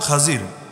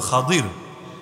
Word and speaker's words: খাদির: আপনারা মুসা এবং খাজির খাজির বাংলায় বলে লোকে খিজির কিন্তু মূল উচ্চারণ হলো খাদিজির যারা মুসা আলাইহিস সালাম